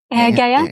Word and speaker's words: Gaeya: This is am I saying it right, Gaeya? Gaeya, yeah. Gaeya.